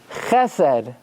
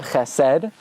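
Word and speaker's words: חסד: Where even though normally you're supposed to emphasize the last syllable, you always emphasize the first syllable in the following situation. When you have two segals in a row. Sheker. Chesed. not chesed, chesed.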